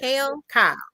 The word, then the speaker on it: Kyle: Because, is it Kale or Kyle? How do you say her? Yes, Kyle.